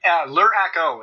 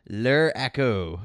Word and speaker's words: Luraco: Is that how you pronounce it? Luraco is how I've always kind of gone with it. Luraco.